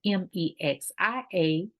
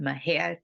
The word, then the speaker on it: Mexia: in Mexia Texas and my hair is spelled m-e-x-i-a not pronounced Mexia but Maher Texas welcome to the empowerment Zone with Ramona